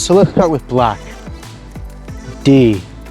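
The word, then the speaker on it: du: let's start with black d or as i prefer to say the the u in that is a bit sticky just d u but the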